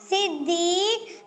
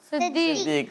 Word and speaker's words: صدیق: صدیق. بات میں نے عرض کی تھی کہ صدیق پڑھ رہے ہوتے ہیں, صاد پر زبر لگا دیتے ہیں.